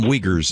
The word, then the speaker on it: Uyghurs: hypocrisy for using uh i think that's pronounced uger uh the uber people the their slave labor to make the nike shoes yeah the muslim uyghurs is how they pronounce it and he is a muslim by